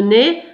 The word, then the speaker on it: nez: Donc le nez, je vous rappelle le nez, ça se termine avec EZ. Donc, on prononce E.